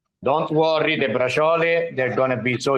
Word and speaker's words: braciole: For the braciole. Don't worry, the braciole, they're going to be so easy, faster.